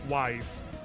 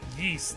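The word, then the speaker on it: Ys: been around forever and I absolutely did not pronounce its name correctly until like the last couple years I just I need to speak my truth I sure as did pronounce that wise and it wasn't until the first time I heard someone call it yeast that I was like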